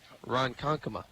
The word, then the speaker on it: Ronkonkoma: And Mike wanted me to let you know, if I didn't tell you already, you pronounced his hometown correctly. Ronkonkoma.